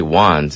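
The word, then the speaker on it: Wanz: His name's actually Juan's, and he's Macklemore's homeboy from Seattle. Okay. Yeah, so... I thought you said Wong, like an Asian dude.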